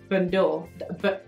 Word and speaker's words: bandeau: So it's actually the Monogram Confidential Bandeau. Bandeau. Just the der is silent. Bandeau.